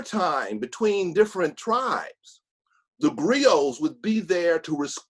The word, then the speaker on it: griot: is and it's spelled g-r-i-o-t a lot of people pronounce the t my sister always rebukes me and says that t is silent um but just briefly